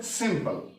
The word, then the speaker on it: simple: Future सिंपल, पल ये नहीं होता, सिंपो, सिंपो, पो, सिंपो, क्योंकि इस पे स्ट्रेस नहीं है, ये इस तरह ये प्रोनाउंस किया जाता है कि गोया ये मौजूद ही नहीं।